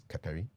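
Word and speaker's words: Kakari: pronunciation of your name if you see k-a-k-a-r-i-k-a-r-i it is not carrick curry it's qatari but you can only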